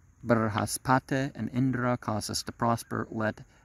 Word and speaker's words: Indra: Indra must be pronounced trisyllabically. Indra. You can do that. Indra. Without adding that Indara for some reason.